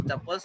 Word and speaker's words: tuple: You can think of tuples, बाकी सब लिखा है, pronouns as tuples rhyming with couples, as those lists which cannot be changed.